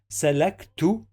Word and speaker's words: سلكت: When we have sukun, we must connect this letter to the previous one and we pronounce both of them in the same syllable. We have to pronounce both of them together. So that's why we say lek.